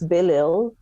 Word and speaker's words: Belisle: spelled denise d-e-n-i-s-e and the last name is bilil some people will say bellai a little bit like carlyle so if you can